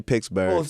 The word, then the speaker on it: Pittsburgh: said it right too cuz Pittsburgh that's how they say it like back home yeah they say pixburgh oh I was saying